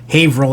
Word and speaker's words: Haverhill: busting my chops and because I was saying hey bruh ville and you're not supposed to say the Earth's Haverhill I believe I could be wrong I could be saying that we're all pronouncing it wrong but I'll go at